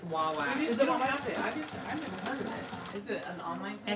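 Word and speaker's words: Wawak: And you say it correctly, Wawack. Wawack. I have a hard time remembering how it said Wawack. I always say Waywack. It's Wawack.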